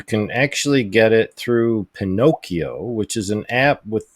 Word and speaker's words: Pinokio: You can actually get it through Pinocchio, which is an app it's spelled Pinokio without CH. It's instead of a CH, it's a K.